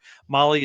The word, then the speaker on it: Mahle: And for the podcast listeners and everybody else out there, Molly is spelled Mahle when you're doing that search.